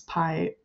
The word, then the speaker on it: pai: And that is actually how it's written to be pronounced on the box, is pie, spelled P-A-I.